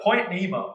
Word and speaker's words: Point Nemo: a crazy thing for anything indeed so uh Point Nemo that's the correct pronunciation corre song starts off the project with